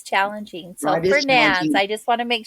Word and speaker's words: Fernandez: from these islands, and they pronounce it Fernand Portuguese. Portuguese has kind of a lazier way of pronouncing a lot of names that we know more from the Spanish.